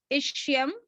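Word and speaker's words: ischium: और excuse me ma'am, हाँ जी, एक बार दोबारा से रिपीट कर दीजिए तीनों नेम, मतलब हाँ प्रोनाउंसिएशन। मैं बोलती हूँ। इलियम, इलियम, इलियम, इशियम, इलियम, इशियम और प्यूबिस, प्यूबिस, ठीक है।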